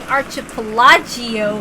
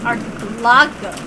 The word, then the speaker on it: archipelago: I was saying archipelagio when it was archipelago.